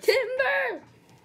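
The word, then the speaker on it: Timburr: That's pronounced Timber!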